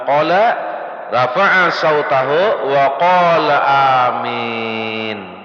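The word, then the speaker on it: آمين: Jadi alif itu 2 harakat ada. Ada situ ada 2 harakat setengah. Tulisan amin kayak itu. Alif 2 harakat setengah, mim ya nun. Ya-nya mati. Jadi cara bacanya apa? Amin.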